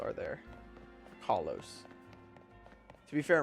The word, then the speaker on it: Kalos: To be fair, all the letters in Kalos are there. Kalos. To be fair, in real French, and the only other way they can pronounce that word would be a silent S at the end.